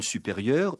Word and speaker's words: supérieure: Mais vous dites une supérieure, une prieure. Vous ne prononcez pas le E final et c'est du féminin.